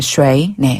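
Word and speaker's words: 谁: 이다라 뜻이 있어요네 그다음에 셰이는 누구란 뜻인데요 결네 쉐이네 쉐이크 할 때의 쉐이라 발음이 비슷한데 위로 올려 주시면 됩니다 한번 더 쉐쉐 쉐이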